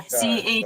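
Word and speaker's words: Chelle Shine: Now All do you you out there that pronounce wanna the follow shell, Michelle, Yep. Chelle? Yeah, Shellshine.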